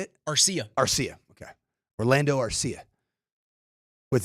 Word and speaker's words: Arcia: Arcia.